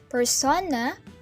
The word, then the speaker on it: persona: This personality that you present to people is a kind of persona, pronounced persona.